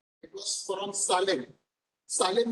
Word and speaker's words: Salem: सालेम पता है क्या? सेलम सेलम बोलते हैं, सालेम में एक्चुअली स्पेलिंग गलत होता था, ठीक है।